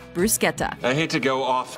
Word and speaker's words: bruschetta: notes number 10 bruschetta common mispronunciation bruschetta correct pronunciation Bruce Guetta I hate to go